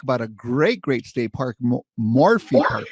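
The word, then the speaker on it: Morphy: And then we're going to talk about a great state park, Morphe Park, right? Did I pronounce that right? Yes, Morphe.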